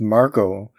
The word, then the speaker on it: Margot: She's pronounced Margot. That's good to know. We pronounced her completely wrong for 7 episodes.